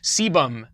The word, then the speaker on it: sebum: Sebum, not a lazy sailor.